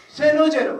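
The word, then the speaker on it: San Jose: 세너제라고 그래요. 세너제. 세상에 세너제가 뭐예요? 세너제가 산호세지 아니면 산조세든지 이게 영어입니다. 자꾸 혀를 꼬는 거예요. 그러니까 발음이 엉망이에요. 얘기하는 놈마다. 근데 외국에서 이민 온 남미에서 이민 온 애들은 저렇게 발음을 안 합니다. 스페인 발음이 있어가지고 비교적 정확하게 발음합니다.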